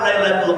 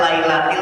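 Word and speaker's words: لَيْلَةِ: karena terjadi pada malam lailatul qadar yang kata Allah sampaikan inna anzalnahu fi lailatil Qadr itu yang benar bacanya lailatil no Lailatul la Lailatul Lail Awas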